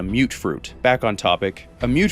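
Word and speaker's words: mutfruit: A mute fruit, which, slight tangent here, I always thought that pronunciation was mutt fruit until I heard an NPC in-game call it a mute fruit.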